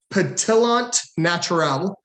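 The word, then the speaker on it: pétillant naturel: pronounced this way it's patellant naturale it's a french word um which actually stands for natural sparkling um and like i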